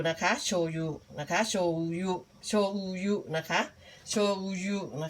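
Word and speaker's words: しょうゆ: นี่ ใช่ มั้ คะ คน ไทย เรียก โชยุ ก็ ไม่ เป็น ไร ค่ะ ก็ เรียก โชยุ ไป นะ คะ ตาม คน ไทย แต่ ว่า ป้า แป๋ว อยู่ ที่ นี่ ป้า แป๋ว ก็ จะ จะ ออก สำเนียง แบบ นี้ นะ คะ ออก สำเนียง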